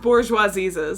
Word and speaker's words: Bourgeoisieses: It is pronounced Bourgeoisieses, so I was not crazy for saying that.